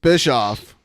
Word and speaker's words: Bischoff: It's Bischoff. Yeah. Yeah, he butchered it.